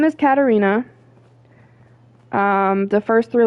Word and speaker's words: Katarina: Um, for those who don't know, my name is Katarina, not Katrina.